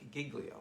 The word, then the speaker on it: Giglio: can spell that but glio is g-i-g-l-i-o like giglio so giglio so um he's a